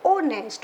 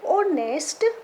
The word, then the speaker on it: honest: An apple, an orange, an aunt, an American, an honest. Okay, H is silent. An honest man.